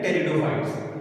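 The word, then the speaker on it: Pteridophytes: Okay, अब देखिए, एज I told you, इसमें टी साइलेंट रहता है, जिसे हम कहते हैं टेरिडोफाइट्स।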